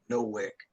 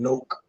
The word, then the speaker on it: Nowak: The judge proceeds to call him Nowak. Then the judge finally corrects himself, calls him Noak. Then the prosecutor calls him Nowak. Says, my bad, Noak.